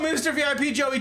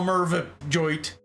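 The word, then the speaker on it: MervipJoey: Oh, Mr. VIP Joey T. Oh, I see. Unless it's Merv Joey. Is it Mervip Joey? Oh, I mispronounced it the first time. I got you now, Mervip Joey.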